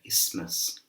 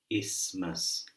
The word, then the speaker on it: isthmus: But how we pronounce this word here, I keep doing it wrong, but the way to pronounce this word here is isthmus. Isthmus.